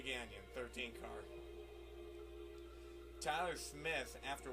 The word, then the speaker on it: Gagnon: to apologize for that it's a canyon Renee ganyon 13 car Tyler Smith